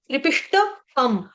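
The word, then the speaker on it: त्रिविष्टपम्: जाएगा त्रिपि त्रिपि त्रिपि त्रिपिषम त्रिपिश त्रिप त्रिपष्ट त्रिपिष्ट पम त्रिपिष्ट पम त्रिपिष्ट पम त्रिपिष्ट पम ठीक तो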